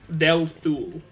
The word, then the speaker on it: Delthul: Delthul. Su. Yeah. If you want me to spell it o uh delu is d e l t h u l.